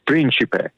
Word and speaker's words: Principe: talk my name is if you're in Italy it's príncipe right so I'll say